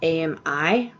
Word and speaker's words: Ami: My name is actually Amy, but it's spelled A-M-I, and it's actually pronounced Ami in French.